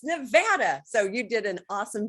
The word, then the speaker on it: Nevada: You're one of the few that aren't from here that pronounce Nevada correctly. People want to call it Nevada, and I'm like, no, it's Nevada.